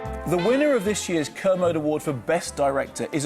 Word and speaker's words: Kermode: or am I what Mark how do you pronounce his last name ker kermode mark thank you for this somebody asked me